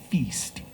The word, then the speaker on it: FYST: And it is pronounced feast because in English a feast is a big gathering of people where they eat a lot and have a good time.